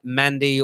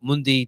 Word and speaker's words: Mandi: potential move for uh i would have just pronounced matt mandy or mundy depending on english or french we'll talk to you